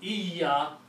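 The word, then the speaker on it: إِيَّا: Alif is written with a Hamza underneath. You can think it just like a without Hamza in the pronunciation. So it is Iya, Iya, the word Iya.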